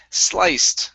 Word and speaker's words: sliced: And the last one here is sliced. Make sure to pronounce a T sound here.